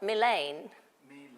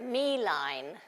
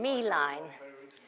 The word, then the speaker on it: Milein: all about I didn't realized she was not main me but mine so forgive me if I've been pronouncing it wrong Meine so I just wanted to sort of mention Meine and uh show you here such a sweetheart